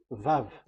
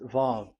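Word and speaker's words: וו: So it's V as in Vogue. So it's really V. How to read Vogue? So the word, the shape Vav is really pronounced V, like Vogue. That is it, pronunciation. So here in this side, it's pronunciation. This is pronunciation. So according to the old Hebrew word today, those who the owner of the word, I mean, so it's a V. So don't change it into W, and you will say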